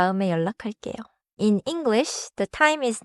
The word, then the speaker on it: 연락할게요: 연락할게요.